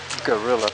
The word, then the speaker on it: guerrilla: Elephant Rock guerrilla podcasting, but as Jim so accurately reminds you whenever he mentions that, it's guerrilla, which is the Spanish pronunciation of gorilla.